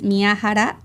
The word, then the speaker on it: Miyahara: in Japanese is miaara.